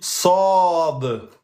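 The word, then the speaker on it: صاد: On dit Sad. Donc, ça se prononce Sa en 2 temps.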